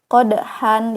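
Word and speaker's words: قدحا: panjang Oke dan seterusnya qodhan dibaca qodha Subhan dibaca Subha oke nah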